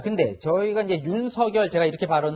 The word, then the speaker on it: 윤석열: 아, 근데 저희가 이제 윤석열 제가 이렇게 네. 발음을 하고 있는데 이름은 또 본인이 원하는 대로 부르는 게 있어서 윤석열 이렇게 부르는 게 더 좋다는 그게 얘기가 맞습니다.